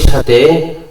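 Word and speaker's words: ثاء: তারপর তা তা, আপনার দাঁতের মাড়ির সাথে জিহ্বার আগা সেটা টাচ হবে। তা তা, একালে টানতে হবে। সা সা সা, এখানে একটা জিনিস খেয়াল রাখবেন, সা উচ্চারণ করার সময় যাতে কোনো সিটি বের না হয়।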